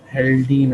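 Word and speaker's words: Haldane: इस सारे प्रोसेस को आप बोलते हो हेल्डेन इफेक्ट। ठीक है, हेल्डेन या हॉल्डेन इफेक्ट, ठीक है। डिफरेंट प्रोनाउंसिएशंस हैं इसकी, डिफरेंट एक्सेंट्स के अंदर आप डिफरेंट हेल्डेन इफेक्ट भी बोल सकते हो, हेल्डेन इफेक्ट भी बोल सकते हो, ठीक है।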